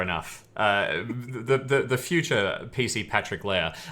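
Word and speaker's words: Lehr: Leah. As in King Leah, L-E-A. It's spelled slightly differently. The German spelling, L-E-H-R, I think. Yeah. Leah. Leah, like Timothy Leah.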